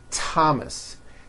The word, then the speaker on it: Thomas: spelled with a th they are pronounced as if they were spelled with a normal t t like that and these words are Thomas Thompson Teresa Thailand temps